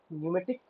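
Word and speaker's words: pneumatic: electro प फ electro न्यूमेटिक प साइलेंट है न्यूमेटिक कंट्रोल यूनिट नेक्स्ट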